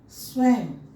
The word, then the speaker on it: स्वयं: संस्कृत भाषा का ये नियम है कि अगर किसी शब्द के अंतिम वर्ण के ऊपर में अगर ये अनुनासिक लगा हुआ है तो उसका उच्चारण म के रूप में होगा।